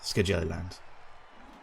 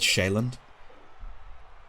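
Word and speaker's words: Sjælland: that's where ducky is SC jelly land yeah did you know that it's pronounced shaland no I didn't know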